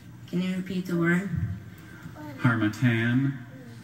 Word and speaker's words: Harmattan: Harmattan. Harmattan. Are there any alternate pronunciations?